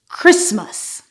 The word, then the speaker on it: Christmas: This word doesn't follow any of the particular rules I mentioned, but the T is silent. Christmas.